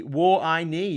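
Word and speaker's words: 我爱你: on the tin um phonetically war i knee means i love you in mandarin oh that's nice knee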